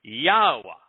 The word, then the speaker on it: Yahweh: The hey is a vowel. It is almost always pronounced ah.